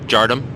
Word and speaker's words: Jardim: It's actually pronounced Jardom.